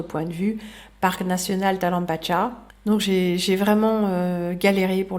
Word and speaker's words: Talampaya: notamment l'inénarable Talampacha. Alors ça s'écrit Talampaya et c'est en Argentine. On va en voir quelques images. Ce sera vraiment pas inintéressant d'autres points de vue parc national Talampacha.